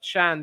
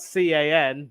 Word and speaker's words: Can: Maatsen has to come back and run, and it's not going to be easy, but Chan doing some work. Of course, his name is spelled C-A-N, but not pronounced Can.